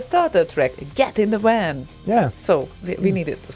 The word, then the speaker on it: WAN: then it's all good now I can pronounce it right van yes Van van yes yeah because because also like in Swedish uh van is a friend yes and uh the friendly van and I I definitely